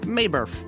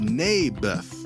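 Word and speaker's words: Naboth: that's what i said may birth i think you're saying it wrong his name was neybeth ah bless you oh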